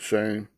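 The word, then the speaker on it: Shem: Okay, S-H-E-M, they pronounce it shame.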